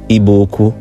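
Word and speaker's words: Igbo-Ukwu: artifacts in eastern Nigeria at a site called IBO uku properly pronounced iboku and one of the artifacts was a distinct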